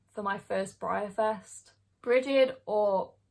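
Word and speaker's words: Brighid: my first Brier fest bridgid or breed and Beltane are the marin fall this year again somebody told me that the gh is silent so it would be pronounced like breed or like preheat or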